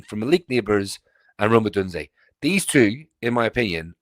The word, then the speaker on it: Odunze: going to have to correct me on this pronunciation, but Rome Odunze. Yeah, Rome Odunze.